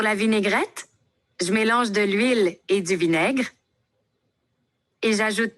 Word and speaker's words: huile: ou H muet comme de l'huile, le H est muet, de l'eau, voyelle, des plus pluriel, des tomates, des œufs.